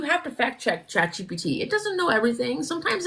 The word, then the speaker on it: GPT: I don't even use chat GBT. I was saying it wrong. Is it PT or BT? I don't even know. G PT. PT. I thought it was a B.